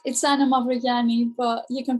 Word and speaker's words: Mavrogianni: It's Anna Mavrogianni, but you can pronounce it Mavrogianni because that's how it's spelled.